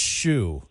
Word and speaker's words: Hsu: It's pronounced Shoe. Of course it is. Yeah, because it's H as in shoe, S as in shoe, U as in uvula, right?